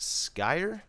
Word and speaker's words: Skyr: work in progress and I believe it's pronounced Sky the link to this